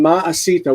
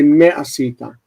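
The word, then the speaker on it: מֶה עָשִׂיתָ: So instead of saying ma'asita, which is what you would say in modern Hebrew, everyone will say ma'asita. You say me'asita.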